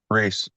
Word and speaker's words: Ruiz: Is it pronounced Ruiz or Reese? Reese. Reese.